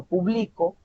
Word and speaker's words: publico: Luego, cuando digo yo publico, esta palabra no lleva tilde, pero la mayor fuerza vocal se identifica a mitad, o sea, a la mitad.